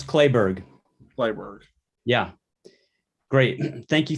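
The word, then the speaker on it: Kleberg: say your name wrong is it kleeberg close clay berg library yeah great thank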